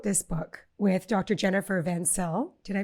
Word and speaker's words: Vencill: and you co-wrote this book with Dr Jennifer vansell did I pronounce her name correctly vencel yeah vencel it's it's fantastic Lauren I'm just so happy